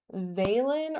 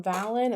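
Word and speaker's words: Valen: Veilen or Valon, it's spelled V A L E N.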